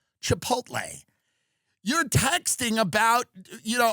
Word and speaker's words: Chipotle: at chipot Chipotle Chipotle is it the Ellie at the end because some people pronounce it the other way I don't I agree it's Chipotle you're texting about you